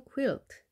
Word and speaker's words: quilt: 그 퀼트는 QUILT입니다. 이것은 quilt. 스코틀랜드의 전통 의상은 kilt. 발음이 약간 차이가 있습니다.